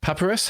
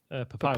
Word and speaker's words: Papyrus: Paparus. How do you pronounce that font? Papyrus.